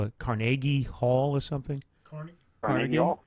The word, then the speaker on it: Carnegie: It's a weekday, and it's at the you guys call it Carnegie Hall or something. Carnegie Hall, yeah. I call it Carnegie, but in Pittsburgh they say it's Carnegie.